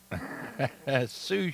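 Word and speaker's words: sous: Sue Chef. Uh, way to go. Uh, Bill and Wade again. Uh, very good. It's spelled S O U S.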